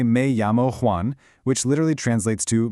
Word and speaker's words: me llamo: In Spanish, that double L is pronounced softly, almost like a Y or a very soft li in English. So it sounds a lot like mi llamo.